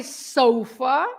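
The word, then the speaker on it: sofá: Sofa, you say sofa in English, right? But because you have the accent on the A, so you have to stress the fa. So you say sofa, right?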